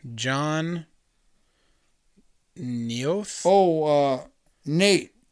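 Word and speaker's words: Noeth: Oh, Nate. He pronounced his name Nate. Okay. But it's N-O-E-T-H.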